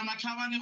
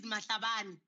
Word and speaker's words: Matabane: Is Councillor Matavane online? Yeah. Yes. Turn him on. Unmute yourself, Councillor Matavane. He's online. He's irritated because his surname is Matabane. So you can't just pronounce his surname as you please.